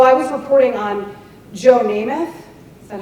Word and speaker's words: Namath: So I was reporting on Joe Namath.